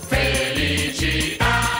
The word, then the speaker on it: Felicità: Felicità, ta, ta, l'accento sulla A.